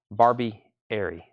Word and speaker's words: Barbieri: Brothers to Lou Street Gerard says gato Barbie Arie gato barbieria thank you for helping me with a pronunciation there Barbie Airy I can see that